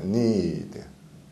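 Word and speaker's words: knead: need. 참 이 단어 어렵네요. 그렇죠? 보세요. K 발음 없고요.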